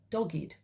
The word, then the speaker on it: dogged: And funnily enough, the word of the day that came up quite recently was, and it's dogged is the way it's pronounced.